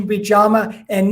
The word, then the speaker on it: yama: topic uh from the um traditional uh uh pronunciation would be jamma and niyama so the salt the second y